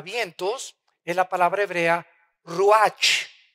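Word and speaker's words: רוח: es la palabra hebrea ruach con ch al final que se pronuncia raj que se traduce espíritu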